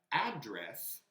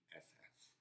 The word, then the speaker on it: address: But address in Spanish would be la dirección. Yeah? The word is the same. It's written exactly the same. Address. One is pronounced address, one is pronounced address. Band.